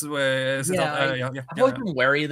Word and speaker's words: Siddhartha: Herman, isn't that the guy who wrote Siddhartha, or how you pronounce it? Yeah, that's Siddhartha. It's Siddhartha.